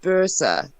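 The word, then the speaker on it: böse: Yeah, it's actually pronounced Bursa, but it's Bose and it means bad, like naughty, bad.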